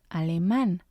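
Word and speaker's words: alemán: the a at the end and it becomes Al man because of the accent we know we have to stress the last syllable and the last example here is Eng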